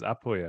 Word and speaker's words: Puglia: it different now no the correct way of saying is apuia right I think yeah yeah I just said Puglia because that's how it's spelled yeah but uh we were